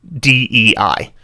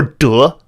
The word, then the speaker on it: 得: But in Mandarin, this is the only character that is pronounced DEI when it is by itself as a verb. Every other context where it's not a verb, it's pronounced d. Or duh, but it's either d